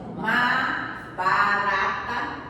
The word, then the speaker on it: Mahabharata: Se eu pronunciar errado, vocês vão me perdoar, tá? O Upanishad, o Mahabharata, Pagou, né? Mahabharata.